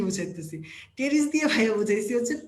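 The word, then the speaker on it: Pteris: টেরিস দিয়ে ভাইয়া বুঝাইছি হচ্ছে পিটেরিস, অথবা তোমাদের পরিচিত টেরিস। ঠিক আছে, এটাকে বলে। পি তো আর উচ্চারণ হবে না, উচ্চারণ হবে কি? টেরিস।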